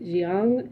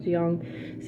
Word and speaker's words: Jiang: So she's training with this master named Jiang, is how I pronounce his name. I don't know how you pronounce his name, but I'm gonna pronounce it Jiang.